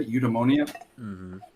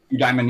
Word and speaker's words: eudaimonia: of the word happiness the Greek word is eudaimonia like you demand a eudaimonia you diamond yeah as another pronunciation of it and it doesn't